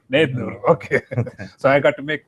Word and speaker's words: Nednur: Or yes, Nednur. That's the American way of saying. How do you say it in Telugu? Nednur. Nednur.